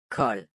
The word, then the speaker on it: kold: Let's start with the LD combination. Listen how the word is pronounced with the silent D. Bold. Sild. Ild. Kold.